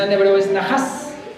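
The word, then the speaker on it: נחש: en en hebreo es naas así lo traducen en el español naas con h en la pronunciación en hebreo es nahas nahas es la pronunciación correcta vamos a ver cómo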